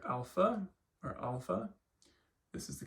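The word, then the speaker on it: ἄλφα: So alpha is pronounced like the ah in father, alpha.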